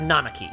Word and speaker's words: Nanaki: You helped our Nanaki. Please come in. Who is Nanaki? Nanaki is Nanaki. That's his name. It's pronounced Nanaki.